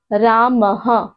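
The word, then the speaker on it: রামঃ: যেমন আমি এখানে লিখে দিয়েছি বিসর্গর উচ্চারণ হবে হ।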